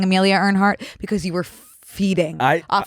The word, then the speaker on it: Earhart: We can listen to the pronunciation. Amelia Earhart.